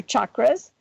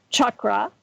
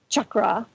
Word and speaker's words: chakra: helps you to maintain the health of your chakras which by the way that the word is pronounced chakra. Chakra is actually how it's pronounced.